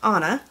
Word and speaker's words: Anna: You'll meet childhood Anna, pronounced Anna, rhymes with Donna, even though everyone gets it wrong and I never correct them.